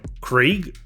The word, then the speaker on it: Krieg: Wait, General Krieg? Like German for war? That's a bit on the nose. I always thought it rhymed with egg, but I guess it's spelled how Yanks say Craig.